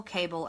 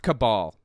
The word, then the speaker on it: cabal: and by the way it's pronounced cabal the root word being or the the atmology of it coming from the word cabala Jewish Mystic